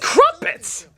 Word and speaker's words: crumpets: Don't get me wrong, it's impressive, funny, and the Muppets are great, but it's friggin' crumpets! So it rhymes with Muppet.